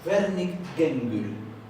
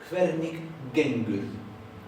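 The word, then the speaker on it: Hvernig gengur: Pero al principio de palabra o en el medio se va a pronunciar más dura y a veces se va a pronunciar casi como una K. Entonces, esto se pronuncia Hvernig-gengur. Hvernig-gengur. En Hvernig, la G final se suaviza y a veces parece que no se oye. Vernig, Vernig. Pero acá se escucha casi como una K. Gengur. Gengur.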